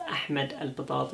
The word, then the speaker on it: Ahmed al Batati: My name is Ahmed al Batati, pronounced Ahmed al Batati in Arabic, but that's not what's important.